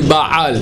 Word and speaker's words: Baal: Bien prononcé Baal et pas Bal.